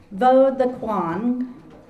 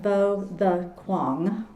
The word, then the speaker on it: Võ Đức Quang: Bo the Kuang, pronounced pronounced Bo the Kuang, is a bilingual poet whose poems have appeared